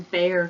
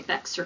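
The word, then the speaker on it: Bexar: 2017 that is in bear county when you say that bear like b-e-a-r the x is silent so sometimes you'll hear non-texans say baxter county but that's not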